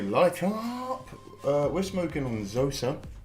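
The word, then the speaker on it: Zoza: We're smoking on Zosa. Z, as you Americans say, but it's Z over here. Z-O-Z-A, Z-O-Z-A, Zosa.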